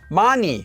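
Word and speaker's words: 많이: one hundred percent disappears another example is mani when you're saying a lot of something this is just pronounced as and this is hard to comprehend if you're thinking of this sound as being an h because you would think why would it go away man it should be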